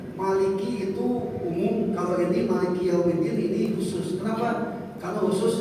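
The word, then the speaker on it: مالك يوم الدين: Maliki Yaumiddin. Manya mantumi panjang 2 harakat, likinya 1 harakat, yaunya boleh 2 harakat, boleh 1 harakat karena ini mengandung isim mengandung madlin, mengandung ya.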